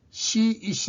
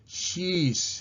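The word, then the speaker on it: she's: இங்கேயும் இந்த இரண்டு சொல்லுகளுக்கும் உரிய சரியான உச்சரிப்பு ஷி என்பதற்குரிய சரியான உச்சரிப்பு சீஸ். சீஸ் சீஸ். ஷி இஸ் அல்ல, ஷி இஸ் அல்ல, ஷீஸ்.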